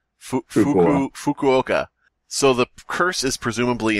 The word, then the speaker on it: Fukuoka: series this time to the funky okay die a Hawks is that how you pronounce it you okay Fukuoka so the curse is